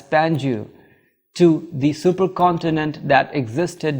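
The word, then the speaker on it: Pangaea: been fewer predators geologists apply the term Pangia from the Greek words meaning all Earth and usually pronounced as pangu to the supercontinent that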